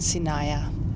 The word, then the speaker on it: Sinaia: First day in Saya, which I confirmed is how you pronounce it.